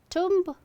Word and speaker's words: tomb: Tomb? It's tomb. Tomb. B is silent. Tomb. Tomb, not tomb. You don't need to stress on the letter B or B sound, B sound.